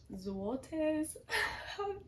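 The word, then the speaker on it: złoty: I just got off the phone with my bank because I had to buy some Polish zlotties. Zotees is how Google says they're pronounced.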